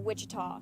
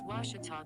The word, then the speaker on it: Ouachita: university back in texas everybody pronounces it wichita but really it's ouachita washington washington how would you pronounce it it's washita baptist university get it right it's